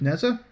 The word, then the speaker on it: Nehza: Of course, as far as my melee weapon's concerned, I'm using the Destreza because it rhymes with Nehza, and I'm using the Body Count and Blood Rush combo.